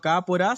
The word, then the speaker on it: Kaapora: poco sobre la plataforma educativa, como se llama, K por A, si la pronuncio bien. ¿Es un tipo de emprendimiento tuyo o quién hay atrás, qué y quién hay atrás de ese nombre? Bien, bueno, Cápora significa planta linda o planta buena en guaraní Ajá.